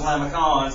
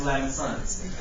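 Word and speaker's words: limaçon: I thought it was Lamacons, but it's pronounced Lamesons.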